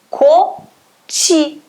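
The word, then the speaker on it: 꽃이: Kot com I. Vai acontecer aquela regra de sempre, vai ficar koti, koti, tá? Pronúncia koti, koti.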